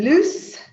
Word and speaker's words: loose: What's the difference between loose and lose. So notice the difference in pronunciation. Loose, lose.